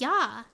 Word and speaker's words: ja: ja means yes yeah ja is actually said as yah oh it's actually pronounced yah write anything agency what